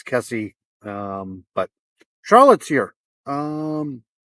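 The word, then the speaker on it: Kesse: And I always get her name wrong. I don't know why. Uh, it's Kessie.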